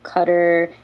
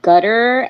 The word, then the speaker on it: Qatar: by the way uh when you were just saying the pronunciation for Qatar or Cutter sounded like you said Gutter and no that's the way some people pronounce it no I know it's like cutter but now I think